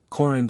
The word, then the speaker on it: Corand: Corand is accented on the first syllable, Presmara on the second, Brandoch Daha on the first and fourth, Gorice on the last syllable.